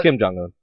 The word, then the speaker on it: Kim Jong-un: It's Kim Jong-un.